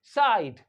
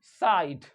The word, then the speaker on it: site: तो इसी वजह से SITE साइट, SITE साइट। तो इस वजह से यहां पे ई आ जाने की वजह से इस फाइनल टी के बाद, फाइनल कॉन्सोनेंट के बाद अगर ई आ रहा है तो आई के साउंड को चेंज कर देता है, और वो जो ई होता है वो साइलेंट रहता है।